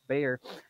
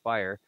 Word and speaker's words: Byer: the line is jack bayer why did i mess that up i'm like say it right and then i said bayer and your name is actually jack byer and i don't know